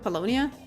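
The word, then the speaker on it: Paulownia Mall: me at Polonia Mall bologna that's that's how you pronounce it Polonia you know where it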